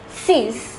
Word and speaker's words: six: sunk the number six though spelt the same as in english it is pronounced as sees the number seven is